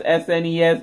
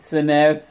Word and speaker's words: SNES: don't get on me that's how I pronounce SNES not senesce like that is a